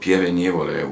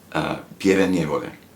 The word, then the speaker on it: Pieve Nievole: It's called Pieve Nievole, which is very difficult to pronounce for people that are not from Italy. Let me try. Okay, what's the name? Do that. Do it. Pieve Nievole. Pieve Nievole.